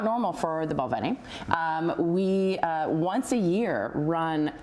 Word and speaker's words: Balvenie: If I was Scottish, I'd say Balvenie.